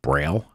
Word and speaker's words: Braille: a battery by company I guess it's pronounced Braille Braille yep they have a lithium-ion